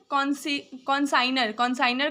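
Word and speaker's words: consignor: Next है कॉन्साइनर का होता है प्रेषक, ठीक है, यहाँ पे G साइलेंट है, कंसाइनर प्रेषक।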